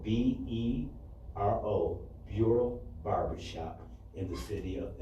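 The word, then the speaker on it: Bero: Also, Bureau Barbershop in the city of Ypsilanti, 2653 Ellsworth Road, open 7 days a week from 10 a.m.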